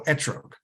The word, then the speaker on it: etrog: caliphate and um and their pronunciation of the Tav without a DOT uh sounds more like a t at least according to